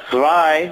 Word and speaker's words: zwei: Because it's spelled with a Z. So then, in German, if it's spelled with a Z, the sound is always Zwei.